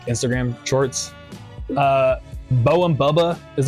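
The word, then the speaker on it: Beux: I doubt you've heard Bow and Boba.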